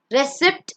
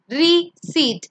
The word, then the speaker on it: receipt: The next one is not receipt, it's receipt.